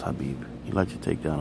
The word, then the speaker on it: Khabib: Khabib, it's pronounced Habib.